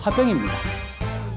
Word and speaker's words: 화병: 김치는 영어 표기가 한국말 그대로 김치듯이 이 질환의 영어 표기도 한국 발음 그대로입니다. 오늘의 주제이자 정답은 바로 한국인의 병, 화병입니다.